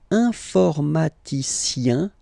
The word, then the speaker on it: informaticien: All right, and the last group is IEN, informaticien, yin, yin, yin. So that's the way to pronounce this IEN, yin, yin. Okay, informaticien.